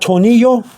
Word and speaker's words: tornillo: Okay, and you got tornillo, means screw. Okay, Torni. 2 L's is like a Y sound. So 2 L's and an A is ya. Okay, so tornillo will be in Spanish